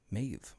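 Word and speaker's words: Mebh: Maeve. M-E-B-H. But spelled or pronounced Maeve. They were saying Maeve. I don't know. It's subtitles. Subtitles. It's spelled like that, but it's Maeve.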